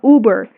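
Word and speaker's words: Uber: زي كده اوبر ايه حضرتك اسمها اوبر. البي بي خفيفة.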